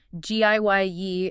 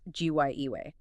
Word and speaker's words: Gaia: You hear both. Giye is very common now, but the pronunciation more rooted in the original ancient Greek is often cited as Gyiwe.